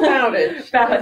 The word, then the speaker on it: Bowditch: Did I pronounce that correctly? Yes, it is Bowditch. Bowditch.